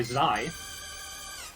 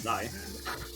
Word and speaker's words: xi: We have White Peak by Zai. That's how it's pronounced, actually. It's Zai.